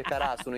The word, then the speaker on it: Karasuno: è in IQ perché Karasuno, Kara, si scrive con un kanji simile a quello di Tori e quindi gli dicono, ma qual è la squadra che dobbiamo affrontare? Torino. Il Torino. Ma non è in Italia? No, si legge Karasuno, idiota.